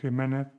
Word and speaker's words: Jiménez: La J, see, the J, can also be used before A and E, like Jimenez and Jerez. The J only has one sound.